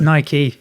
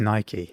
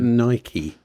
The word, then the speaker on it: Nike: It's Nike, is it?